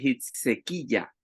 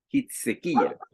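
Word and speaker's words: חזקיהו: Y en hebreo se dice se dice Hitsequilla, Hitsequilla.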